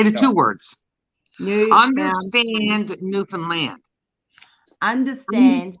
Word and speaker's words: Newfoundland: Understand Newfoundland. Understand Newfoundland. You said it right, girlfriend. Yes. So That's how you're really saying Newfoundland. Newfoundland is the same as understand.